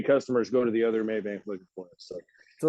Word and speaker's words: Mabank: where are y'all located one of my customers will jump in and say Maybank and then we'll have somebody else that's not a customer and they'll say Maybank but they'll spell it with a Y So for anybody watching it's m-a-b-a-n-k maybe and that is